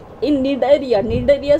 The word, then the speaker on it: Cnidaria: cylinder a tassel enter alta or Nigeria see is silent in need area needed year spelling is C and I da